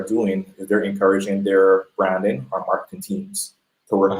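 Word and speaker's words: Bhranding: Branding equation right it's b r a n d i n g uhuh plus HR equals B HR a n d i n g so it's still pronounced branding the H is silent but it's a way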